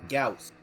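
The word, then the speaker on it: Gauss: Actually, it's Gaus. That's how it's pronounced.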